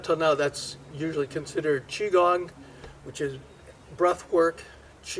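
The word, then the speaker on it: Qigong: now that's usually considered chiong which is breath work Chi is your energy but your breath controls your energy and gong it's actually pronounced gang so it's actually Chi gang if you hear other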